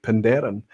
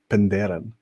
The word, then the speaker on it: Penderyn: Andrew Pierce is saying, Aquavita and Welshroy, your pronunciation was correct, Penderyn. Thank you, Andrew. So all I've got to do is lock that in and have some conviction when I say it right, Penderyn.